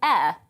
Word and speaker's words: Ayr: We sent our Scotland reporter, David Donaldson, to the Burns Museum in Ayr.